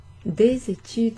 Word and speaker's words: des études: Des études, the S is pronounced in front of the E, that's a liaison.